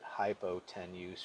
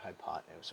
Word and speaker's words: hypotenuse: But you don't say it hypotenuse. You pronounce it hypotenuse, okay?